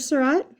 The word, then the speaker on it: Seurat: So I'm going to do this on this flower, and I'm going to continue the story of George Seurat, the guy whose name rhymes with dot. So George Seurat was a pretty lucky guy, and I'll tell you why.